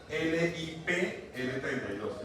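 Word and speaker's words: LipL32: Lip L32. Lip, como se escribe la en inglés, lip.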